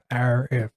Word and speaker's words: Arif: simple. It's ARIF. Arif. Yeah. That's how you say it.